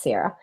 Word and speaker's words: Sierra: It was, as Sierra said, I figured out how to say her name, by the way. Somebody helped me. It's Sierra.